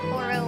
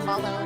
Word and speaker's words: Holo: Also, Horo or Holo, depending on your pronunciation, is one of the all-time top tier waifuss.